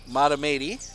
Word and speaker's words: Mahtomedi: And thank you to Sports World for correcting my pronunciation. Mahtomedi.